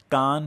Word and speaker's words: Cannes: film festival बोलते हैं असल में यह गलत प्रोनोंसीएशन है इसका सही प्रनंसीएशन है कान फिल्म फेस्टिवल क्योंकि यह फ्रांस के कान शहर में आयोजित किया